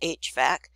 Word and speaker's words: HVAC: in Heating and Cooling is called HVAC that's how you pronounce it HVAC which stands for heating